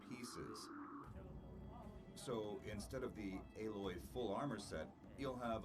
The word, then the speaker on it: Aloy: Oh, it's Aloy. Okay, I was always pronouncing So it in this Alloy.